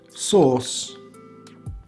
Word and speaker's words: source: course course again the the e is silent another example source source so you have